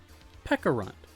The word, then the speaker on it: Pecharunt: Pronounced with a K sound, like the berry. Pecharunt.